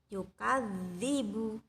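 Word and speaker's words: يُكَذِّبُ: kan data Cut ini untuk pengucapannya itu tebal ya Jadi sedikit ditebalkan juga Budi Bu Jadi huruf Dal nya itu lebih tebal pengucapannya daripada huruf yang lainnya ya doang ya Perhatikan ya yukadzibu tebal dan ditahan Oh ya jugnu Oh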